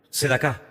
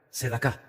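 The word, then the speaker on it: צדקה: Sedacá. Sedacá.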